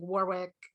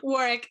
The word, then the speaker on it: Warwick: i found out like warwick i just pronounced that wrong for sure warwick um definitely i think